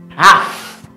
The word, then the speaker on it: have to: Have to changes to half. Ooh, wow. Half. The VE sounds like an F.